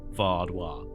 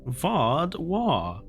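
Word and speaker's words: Vaadwaur: w a a r vwa it's not my accent you're putting an r in there is it V or v v say it's lovely V you're saying VAR V War but there's no R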